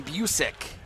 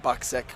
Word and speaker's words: Busick: Hayden Busick is how you pronounce the name, not Buksick.